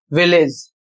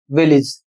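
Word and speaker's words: village: जबकि इसका सही उच्चारण क्या है? इसका सही उच्चारण है विलेज। यहां पर देखिए मैंने लिखा है कि इसका उच्चारण विलेज। तो यहां पर देखिए लिखा है कि विलेज विलेज इसका उच्चारण नहीं होगा। इसका उच्चारण होगा विलिस।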